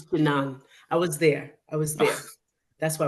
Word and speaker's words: Jinan: It's Jinan. See, I lost my mind just a Jinan? minute. See, don't tell my age. It's Jinan.